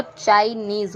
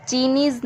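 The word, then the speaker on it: Chinese: जैसे च, आई, न, ईज, लास्ट का ई नहीं पढ़ा जा रहा है, लास्ट का ई हमेशा साइलेंट रहेगा। तो चाइनीज़ होता है, चीनीज़ नहीं होता है या चीनेज़ नहीं होता है।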